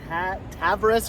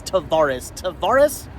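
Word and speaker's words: Tavares: We are here in Tavvaris, Florida. Not how I would have pronounced that. Probably would have said Tavvaris or something. It's Tavvaris, Florida is where we are right now.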